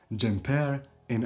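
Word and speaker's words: xhemperi: Jumper, sweater, jumper in Albanian. And jumper is also stressed on the last syllable, jumper, jumper. But if you say the jumper, the sweater, it becomes jumperi, jumperi.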